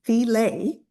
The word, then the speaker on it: Thele: My dad's name is Richard and my name is Theel Rhymes with Relay.